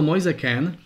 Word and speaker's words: Moise Kean: No, vyslovuje sa to Moise Kean. Pretože jeho je má síce predko z Afriky, ale jeho meno je už potaliančené, bol už narodený v Taliansku, je to mládežnícky taliansky reprezentant, takže prepáč, ale inak aj ja som s tým mal tiež veľké problémy, kým som to našiel, ako sa to vyslovuje. Teda Moise Kean, ako sa píše, tak sa to v podstate číta, mladík, 18-ročný, ukázal sa